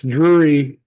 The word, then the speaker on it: Drury: Because anytime I passed it before, my brain just equated it with dreary, like dreary. But it's not. They're not. That's how you pronounce the word dreary. That's right. Drury. That's right.